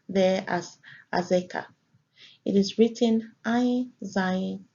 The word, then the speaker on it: Azekah: It is pronounced there as Azekah.